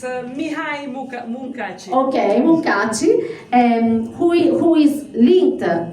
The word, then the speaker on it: Mihály Munkácsy: In fact, thus the traditional paintings of Mihály Munkácsy, I don't know if my pronunciation is right. It's Mihály Munkácsy.